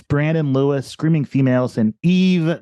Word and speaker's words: Yves: Taylor's Sunny War, Algiers, James Brandon Lewis, Screaming Females, and Eve, that's spelled Yves because it's French, Eve Tumor.